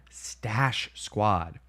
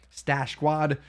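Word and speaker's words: Stache Squad: check out type in stash Squad s-t-a-c-h-e-s-q-u-a-d two words stash squat stash spelled like the mustache okay stash Squad get yourself a little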